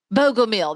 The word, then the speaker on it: Bogomil: Bogomil, that was it.